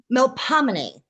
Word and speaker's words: Melpomene: It's melomin.